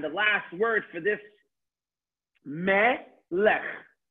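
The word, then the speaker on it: מֶלֶךְ: And the last word for this, melech. Mem with a segol, a lamed with a segol, and a final chaf with a shva, so it's silent. So melech.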